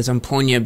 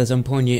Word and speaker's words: zampogna: these on this cd um because um the zomponia basically it has different parts to the instrument